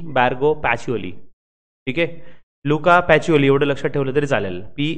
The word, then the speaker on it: Pacioli: Luca पॅचिओली एवढं लक्षात ठेवलं तरी चालेल. PACIOLI. पण त्यांचं स्पेलिंग प्रोनाऊन्सिएशनमध्ये पॅची येतं.